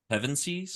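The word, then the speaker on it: Pevensie: The four Pavveny, is that how you say it? Pevenies.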